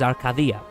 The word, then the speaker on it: Arcadia: The actual pronunciation is Arcadia.